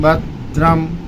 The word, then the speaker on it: भद्रम: जैसे ओम भद्रम, भद्रम। अब भद पर जीभ दांत पर लगी, वहीं पर जीभ को रोके रहिए, जीभ मत हटाइए, वहीं से बोल दीजिए रम।